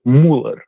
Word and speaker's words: Müller: The last name uh like the basketball player Andre Miller, the correct pronunciation is Müller.